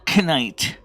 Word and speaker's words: knight: Please know that the K is silent. It is not of a sound. So it's not knight.